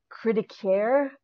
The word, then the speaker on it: Cri de Coeur: I believe the pronunciation of the episode name is Cri de Coeur. That's what it sounded like when I played the little sound thing on the internet, because I was not